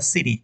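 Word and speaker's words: city: এখন বলছে ইট ইজ the capital সিটি of Bangladesh, capital সিটি, এটার উচ্চারণটা কোন অবস্থায় ছিটি যেন না হয়, এটা হবে সিটি, সিটি।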